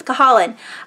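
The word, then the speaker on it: Cahalan: madness by susanna callahan Kalla Kahala i always say it wrong it's Colin this is a reporter who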